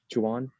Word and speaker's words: Chowan: I've got a question for Chowan. I'm sorry, how do you pronounce the school? Chowan?